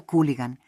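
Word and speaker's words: хулиган: Se pronuncia Cooligan, una palabra prestada muy común en ruso, que se usa para sinvergüenzas, patanes, rufianes.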